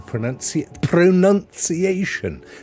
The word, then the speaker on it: pronunciation: Would be the actual pronunciation. There's another one, ladies and gentlemen. There is no O after the first O in pronunciation.